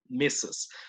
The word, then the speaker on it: Mrs.: Señora, si es que es casada, Mrs. No pronuncien la R, por si acaso, pero se escribe con R, ¿ok? Mrs.